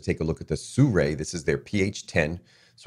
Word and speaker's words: Sirui: You'll hear it pronounced all different ways, but I believe it's Sirui.